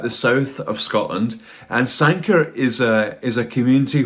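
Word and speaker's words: Sanquhar: um to look at sanker patterns now um that's spelled very differently um from how it's said and I'll put the they put the the spelling along here uh sanker is is a town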